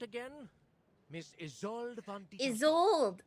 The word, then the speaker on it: Isolde: Isolde. That's how you say it.